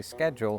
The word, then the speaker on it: schedule: Because in English, most words that begin s are pronounced sk. Usually not as high pitched as scholar, scholastic. These are all words that came from Latin just like schedule.